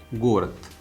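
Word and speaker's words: город: Girvni means you know village and the antonym can be considered gorat. Gorat you know city. Please pay attention. Gorat the is written but the pronunciation is the gorat here.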